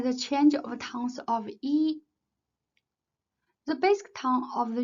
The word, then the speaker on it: 一: The tongue of E may vary with the tongues of the syllable that comes after it. If it is preceded by a fourth tongue, it is pronounced as the second tongue.